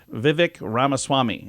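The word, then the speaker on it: Vivek Ramaswamy: Time with Bill Maher it's Vivic ramaswami is how you say it and there's a few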